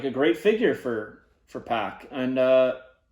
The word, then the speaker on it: PAC: but next up who do we have pock or pack it's weird like some people say pack some people say poc um i go back and forth with it uh i think that his pronunciation is packed but i know for years everybody called him poc before he was in